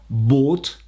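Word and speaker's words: bought: les deux cas haute il ne faut jamais prononcer le GH dans ce cas là ça doit rester très simple à prononcer comme dans le verbe acheter par exemple by boat boat pas de GH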